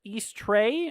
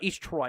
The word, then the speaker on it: East Troy: All right, we also got uh, Potter Lake, East Tray, or sorry, East Troy, not Tray. Um, also, we got Eagle, La Grange, you guys are in this tornado warning as well.